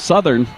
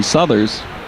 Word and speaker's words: Southers: grabs hold of that puck, and here comes Southern. Excuse me, Southers. Pronounced that wrong.